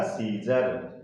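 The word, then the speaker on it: scissors: तो एस सी के बाद आई या फिर ई लेटर आएगा, तो यहाँ उस वर्ड में सी लेटर क्या रहेगा, साइलेंट रहेगा। तो इसका प्रोनाउंसिएशन क्या हो जाएगा, सीजर। इस सी का प्रोनाउंसिएशन नहीं किया गया।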